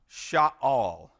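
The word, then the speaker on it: שָׁאַל: This word is pronounced Sha'al.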